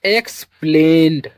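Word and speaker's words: explained: पहला तो ex को पढ़ते हैं x ई एक्स को पढ़ते हैं x क्या पढ़ते हैं? एक्स और दूसरी बात है ईडी और ईडी को हमने बताया इसे पढ़ते हैं ड। क्या पढ़ते हैं? ड और तीसरी बात है ए आई। AI को अभी हमने आगे बताया A के ही रूप में पढ़ते हैं और जिसकी मात्रा कुछ इस प्रकार लगाते हैं।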